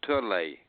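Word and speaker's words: Törley: I passed the Turley factory, I guess you'd call it, or in you can pronounce it correctly. It's called Turley. Turley.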